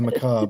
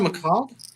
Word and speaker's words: macabre: Is it pronounced macabre? Macabre, yeah. Yeah. I've never heard someone pronounce it. I always thought it was macabre. I like that. I believe it's Sounds French, better so it should probably be.